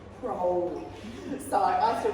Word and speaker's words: Crowley: I used to call his name Crowley, but he wanted to ride with Holy. So he pronounced his surname as Crowley.